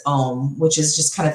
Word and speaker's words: Om: to that place its ohm which is just kind of the universal sound and ohm it's spelled om but a lot of times it's pronounced AUM so it's more like